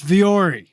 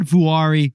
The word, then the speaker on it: Vuori: you're wanding at besties how do you pronounce it it's viori it's not vori or VII it's viori which is nothing like it spelled and it's finished for